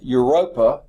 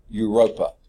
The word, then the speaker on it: Europa: it okay and then your ropa which is the smallest of the four EU EU ROP a you rope up sort of like Europe it starts like that but it's a at